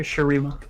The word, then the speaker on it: Shurima: that is going to be the expansion of shirima am i pronouncing that right i just want to make sure yes sir sharima of of of sharima and what comes with